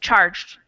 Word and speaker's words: charged: person said changed charged we have the soft G because it's a G+ an e sound and the ed does not make an extra syllable so it's a charged just one and changed is that